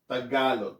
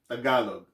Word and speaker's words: Tagalog: tagalog it's actually pronounced tagalog there's an accent right there tagalog that's the main that's